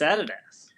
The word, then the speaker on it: Adidas: Davis and that sounds stupid to me it's Adidas yeah exactly it's a full stupid uh and also how they pronounce uh Audi why why are they it's